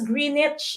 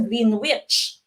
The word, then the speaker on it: Greenwich: seven again this is uh pronounced as greenwich okay greenwich you don't say it is a green witch okay you pronounce this as greenwich greenwich england okay is